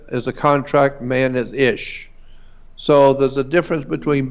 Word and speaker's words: ish: And in Hebrew, the word man is ish, I-S-H. In Hebrew is man. It can be also more than one. It can be men. The correct way to pronounce it in Hebrew is ishi.